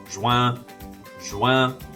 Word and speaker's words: juin: Finally, I have my favorite month, juin. And if you say it correctly, you sound like a duck honking. Juin, juin.